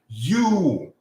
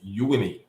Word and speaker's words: Uyuni: Uyuni. That's how you pronounce the name of that city. Uyuni.